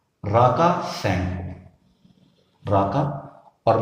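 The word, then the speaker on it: Tsangpo: सबसे पहले ट्रिब्यूटरी है राका सैंगपो। राका, और मैंने आपको बोला है सैंगपो में हमेशा टी जो होता है आपका वो साइलेंट होता है, इस टी को नहीं पढ़ते आप, तो केवल बाद का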